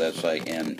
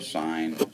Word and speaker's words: sine: n that's the abbreviation it's spelled s i n e as in sign so please don't pronounce that as Sin for a variety of